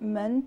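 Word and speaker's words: 们: listen men men men it has a nasal quality to the sound the is neutral now repeat after me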